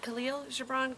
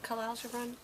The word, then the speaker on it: Khalil Gibran: How do you say, is it Khalil Gibran? Khalil Gibran?